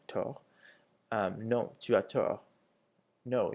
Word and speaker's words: tort: Avoir tort, without pronouncing the second T, tort.